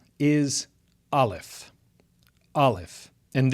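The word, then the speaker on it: aleph: So the first letter is alf. Alf. And this is a silent consonant. It has no pronunciation, which is why I've written NA where it says English equivalent.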